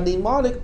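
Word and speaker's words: mnemonic: n i c demonic the m is silent but it really it's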